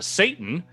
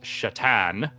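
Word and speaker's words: Šatan: Greg says, on a recent episode of the Beastcast, Alex mentioned he owns a Satan, pronounced something like Shatan.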